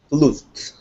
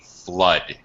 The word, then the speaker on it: flood: could escape the great flute flood uh right word just gonna change your pronunciation slightly flood it's uh uh yes it's an uh sound flood uh okay right a